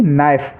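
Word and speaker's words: knife: ऐसे ही नाइफ, नाइफ means होता है चाकू, तो के से शुरू है, बाद में एन है, तो यहाँ पर के साइलेंट है, इसको हम नाइफ पढ़ेंगे।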